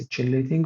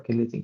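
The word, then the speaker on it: chelating: Some people can be pronounced also as chilating agents. Both are correct. You can say chilating or killating agents.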